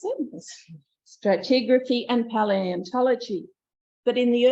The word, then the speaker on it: stratigraphy: She loved the teaching, geology, mineralogy, petrology, stratigraphy, that's how you pronounce it, stratigraphy and paleontology.